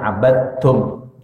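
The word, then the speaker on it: عَبَدْتُمْ: Dibacanya abadtum, dimasukkan idghamkan.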